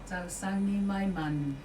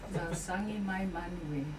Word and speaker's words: Tausagi mai manue: Tausagi mai manue. Correct? Tausangi mai manu. No, is the A silent? E silent. There's an E there. Tausangi mai manue.